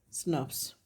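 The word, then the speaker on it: snRNP: the language of molecular biology sn rnps are pronounced as snuffs okay and what are these actually these are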